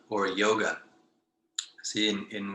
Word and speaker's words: yoga: See, in when we say yoga, it's yo is like, it's a very straight, and I would say a simple sound, yo, as opposed to yo. Yeah. It's almost like yo. Yeah. It's the anglicized yo. It's yoga, and then there's yoga. Yeah. Right? It's a simpler kind of sound.